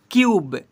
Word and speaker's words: cube: तो यू को यू से पढ़ते हैं, CUBE क्यूब, TUNE tune, MUTE mute, CUTE quit, ऐसे पढ़ते हैं।